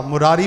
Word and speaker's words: मुरारे: चओ श्री कृष्ण गोविंद हरे मुरारे। हाँ, मुरारी भी भगवान जो नालो तो, पर हिते मुरारे लिखियल अथव, मुरारे।